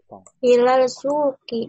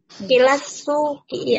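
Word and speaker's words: إلى السوق: Maryamu dahibatun ilal suki. Ilas, sini kan huruf samsi ya. Ilas. Ilas suki ya. Iya betul. Jangan lupa ya, sini itu huruf samsi ya, sehingga dimasukkan. Coba sekali lagi bacanya yang benar.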